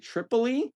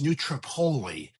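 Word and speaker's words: New Tripoli: It's It's actually a local pronunciation kind of like, you know, Buuna or Absein or anything. It's uh it's neutropoli up here in the Pennsylvania. So they they stress the the later syllables in the word.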